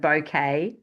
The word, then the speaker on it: Bucket: Um, hyence bucket, she pronounces it bouquet works hard to impress all others.